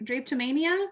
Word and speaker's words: drapetomania: say it tammy drapatomi mean i think drake drapetomania is what we need there we go the